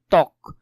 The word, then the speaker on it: ত্বক: শব্দের আদিতে বফলার উচ্চারণ হয় না, এটা তোমাদের জন্য গুরুত্বপূর্ণ, এটা একটু ভালো করে দেখবে। যেমন ত্বক, এখানের মধ্যে এই যে ব মানে বফলাটা ছিল, এটা কি আদৌ কি উচ্চারণ হয়েছে, হয় নাই, এখানে ডিরেক্ট ত্বক হচ্ছে।